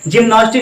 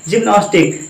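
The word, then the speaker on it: gymnastics: जिम्नास्टिक सुना है, जिम्नास्टिक, जी के बाद में वाई आया, हमने प्रोनाउंसिएशन क्या किया, प्रोनाउंसिएशन क्या किया, जा किया।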